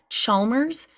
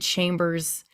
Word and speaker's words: Chalmers: wanted to really quick correct it's brooke chalmers not i think i said chambers i'm not sure but